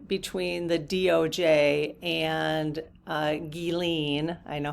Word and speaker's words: Ghislaine: So, we are going to look into the meeting between the DOJ and uh Gilene, I know how to say it now. Thank you, Gilene Maxwell.